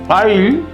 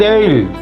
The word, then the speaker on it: aisle: Instead of saying I'll, I said ale.